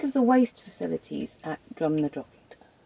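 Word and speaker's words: Drumnadrochit: No, I mean I was hoping we could get rid of the waste at um Drum na Drochit. Is that how you pronounce it?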